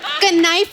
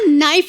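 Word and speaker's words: knife: कनाइफ नहीं होता नाइफ होता है। केस साइलेंट रहता है।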